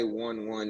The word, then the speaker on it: i11evn: i always i don't always see that i right there for some reason okay yeah no it's spelled i 1 1 ebn but it's pronounced 11.